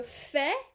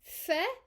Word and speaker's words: fais: We have je fais, don't pronounce the S. Tu fais, il fait, elle fait, on fait.